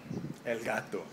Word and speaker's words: Elgato: was out yet by Elgato Elgato I should say it properly because I'm Colombian I'm Hispanic don't look